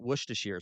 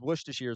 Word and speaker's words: Worcestershire: No, AJ, it is not pronounced that way the in Midwest United States. We pronounce it Worcestershire sauce. I know it's pronounced differently in the UK, but that is one thing where we're separated by a common language, right? Okay, so it is Worcestershire sauce in the Midwest.